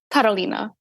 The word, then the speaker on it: Karolina: They say, you know, like Karolina. That's how you say it in Polish.